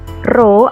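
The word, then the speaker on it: ρ: Jadi untuk simbol ini dibacanya adalah Rho. Saya ulangi, pH sama dengan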